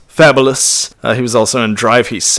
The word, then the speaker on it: Fabulous: That really is his name, Fabulous, but it's pronounced Fabulous.